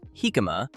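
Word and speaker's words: jícama: Jicama, pronounced "hee-ka-ma", is a large, round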